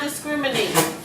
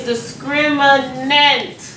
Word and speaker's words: discriminant: name this part and that name sounds like the word discriminate but it's not discriminate see it looks like I'm about to spell discriminate it's discriminant discriminant making up words